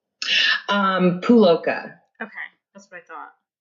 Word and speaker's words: Puloka: Puloka. Okay. That's what I thought. Yeah. It's phonetic. So it's like the U, just like ride that U. It's just Puloka.